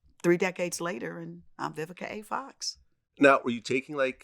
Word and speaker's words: Vivica: my name growing up a lot of people couldn't pronounce vivica so i was called by vika vivisha i was called everything but vivica and so my middle